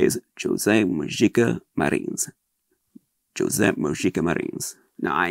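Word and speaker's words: José Mojica Marins: mangled it every way you can imagine it's Jose moika Marin that's his name Jose moika Marin that's his name that's how he pronounced it some Brazilians say marij I never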